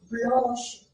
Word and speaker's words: blanche: And I told you if in any French spelling CH comes together, generally it takes the sh sound, like in the another French word dimanche.